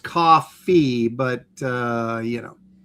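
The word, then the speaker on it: Ko-fi: Now, people are telling me that it's actually pronounced coffee. So, like coffee.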